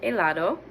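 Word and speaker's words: helado: say CH but anyway that H at the beginning of aato is silent El elato the ice cream El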